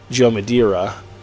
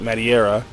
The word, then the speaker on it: Madureira: I think Joe Mad, his actual pronunciation from what I heard once was Joe Madureira. But the way it's spelled, I never heard it until that one time, so I always pronounced it Madureira.